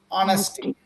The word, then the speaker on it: honesty: example words like honesty do not call it honesty it is not honesty it is honesty honesty right and